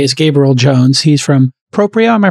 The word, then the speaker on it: Proprio: He's from Proprio. Am I pronouncing correctly? Proprio, yep. That's Proprio, right.